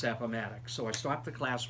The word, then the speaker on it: Appomattox: around i remember i had one student who pronounced it apartments i thought i was going to pass out apartments it's appomattox so i stopped the class right there and i said everyone after me say appomattox appomattox appomattox and then i said okay each